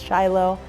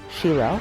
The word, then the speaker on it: Shiloh: I'm using the Hebrew pronunciation versus Shiloh, so every time I refer to Shiloh, it will be Shiloh.